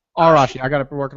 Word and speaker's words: Arashi: Harashi? Arashi. Arashi. I got to be working on my pronunciation.